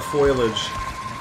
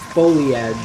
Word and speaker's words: foliage: I'm gonna try and hide in the foliage. Foliage. It's pronounced foliage, honey.